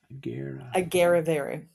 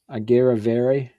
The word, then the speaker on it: Agerrevere: Agerrevere. Agerrevere.